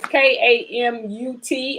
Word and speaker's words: Kamut: As long as you can, spell it as Kamut. I say it's not mute because there's no E on the end of it, but it's Kamut.